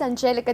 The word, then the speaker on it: Angelica: My name is Angelica.